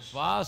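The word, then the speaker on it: שווא: And the shva, say with me, shva. Here's the shva. See those 2 dots? Shva. It's a hurried E.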